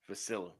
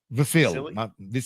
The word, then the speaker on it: Vasyl: How do you say his first name? Vasyl. Vasily. Vasily. I think, is it Vasily? I'm going to say Vasily. It's not Vasily.